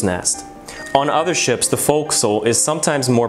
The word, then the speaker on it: forecastle: It's spelled as forecastle, but yes, it's pronounced as forecastle on the Titanic.